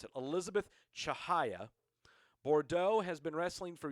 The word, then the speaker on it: Chihaya: Yeah, that's how you pronounce it. Elizabeth Chihaya.